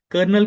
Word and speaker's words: colonel: ठीक है, यहाँ पर साउंड आर का है बट स्पेलिंग के अंदर कहीं भी आर नहीं आता है। So what is the correct spelling of कर्नल इज, ध्यान से देखना है, COLONEL।